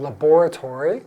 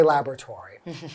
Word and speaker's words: laboratory: you might also heard laboratory which is like in English in the UK they pronounce it that way well we say laboratory in North American English or in a lab